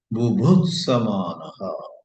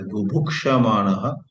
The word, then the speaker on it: bubhutsamanaha: Nityam vastu bubhutsamanaha. Wanting to know. Don't mispronounce it as bubhukshamanaha. Bubhukshamanaha, wanting to eat. Bhuksh means bhungshva, bhojana. But bubhutsamanaha comes from the root budh, to know.